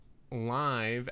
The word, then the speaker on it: live: out me professor marth live it's pronounced live as in living oh liv professor marth live on trailer